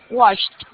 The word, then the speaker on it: washed: Washed. Muy bien. Acá es más fuerte. Washed. No le pronuncies la E. Mira que la pronunciación final es solo una T.